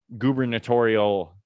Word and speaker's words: gubernatorial: was just uh uh gubernatorial i think i said that right election dude it sounds wrong but you said it right in uh in